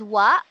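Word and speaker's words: は: And yes, the pronunciation is wa. But then when it comes to typing, I mean, when it comes to typing it in hiragana, we say ha. We use ha, not wa.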